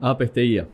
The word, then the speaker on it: Azpeitia: Y a Azpeitia, ¿lo pronunciamos bien? Azpeitia.